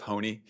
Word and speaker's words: Honea: First, briefly to address, it's Sheriff Honea is how you pronounce it, so I wanted to make sure I did that since you mentioned that.